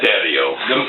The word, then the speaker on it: Dario: Dario, however you want to pronounce it. It's Dario. The Matt got the roll-up win.